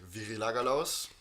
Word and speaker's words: Virilagalaus: He has his own design company called Virilagalaus, Yes, which I already heard I pronounced kind of correctly.